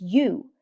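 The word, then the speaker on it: 鱼: Because the word for fish, which is yu, has the same pronunciation as the word for abundance.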